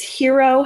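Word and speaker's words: Heuro: It's Hero Health. So H-E-U-R-O Health. And it's a play on words for the word hero, like, you know, you're my hero, but it's spelled like heuristic, and that word means enabling a person to learn and discover for themselves. So that's why it's called Hero Health.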